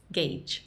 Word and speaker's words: gauge: Gage Gage Gage noise gauge it's Gage and if you've got